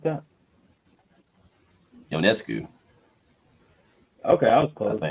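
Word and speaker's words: Ionescu: s cuu lco well it's pronounced like yo like yonas yonas all yeah I would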